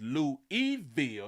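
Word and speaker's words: Louisville: He say it's Louis Eville. He say the S is silent.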